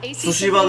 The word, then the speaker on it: Tsushima: Tsushima da eğer Tsushima diye okunuyor. Tsushima. Tsushima. Sı. Yani T'yi olabildiğince az telefiz edin.